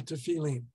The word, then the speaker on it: tefillin: And one is not even supposed to pass gas when wearing the tefillin, or as it's usually pronounced, the tefillin. There's your Ashkenazi, Sephardi, different pronunciation.